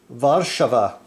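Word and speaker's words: Warszawa: hopefully pronounced Krakow and Warsaw is varshava man I'm loving this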